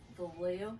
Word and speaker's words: Vallejo: Vallejo, California.